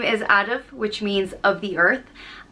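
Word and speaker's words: Adhamh: a lot of history the next name is adaf which means of the earth and it is spelled a-d-h-a-m-h and it's pronounced and it is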